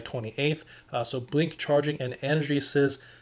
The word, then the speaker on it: EnergySys: So Blink Charging and Energy Sys, I think it's pronounced Energy Sys, There's a collaboration between